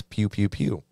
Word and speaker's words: Pkew Pkew Pkew: to pronounce it and it's pew pew pew let's go but but there's a k there pew pew pew okay silent this is English sometimes